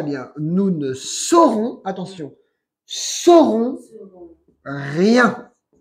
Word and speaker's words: saurons: Nous ne saurons, attention, saurons Serons. rien. S-A-U, pero se pronuncia S-O.